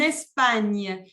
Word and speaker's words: Espagne: En Espagne. La G y En la España. N se pronuncia como la ñ en español.